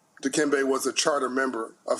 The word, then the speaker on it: Dikembe: You mispronounced his middle name. It's Dikembe, love his family and community, Mutombo.